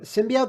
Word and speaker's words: symbiote: up with that symbiote you know how to say it yo symbiote that's how as in symbiosis but like like man